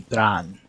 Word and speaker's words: Bran: Like, technically, if we want to be completely accurate, the pronunciation of my name, which is Irish, is supposed to have a flick on the R. It's supposed to be Bran.